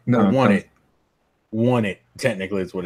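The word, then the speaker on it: Onett: Won It. Technically, is what it's pronounced.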